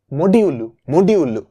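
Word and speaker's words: modulo: যোগ বিয়োগ গুণ ভাগ, এটা হচ্ছে ভাগশেষ, ফর এক্সাম্পল 5 কে যদি 2 দিয়ে মডিউলো করো, এটা মানে হচ্ছে 5 মডিউলু, এটার উচ্চারণ হচ্ছে মডিউলু।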